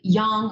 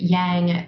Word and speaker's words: Yang: most of us lead a very young some people pronounce it Yang type of life where